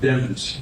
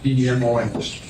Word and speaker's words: Demons: It's pronounced Demons, D-E-M-O-N-S.